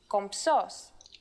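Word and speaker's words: κομψός: in greek this is compsos and even though writing it isn't that hard saying it is a little tricky since you have to combine the m and the sounds for the moment though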